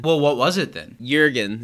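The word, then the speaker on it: Jürgen: what was it then jurgen is how it's pronounced in in yerman how many hours of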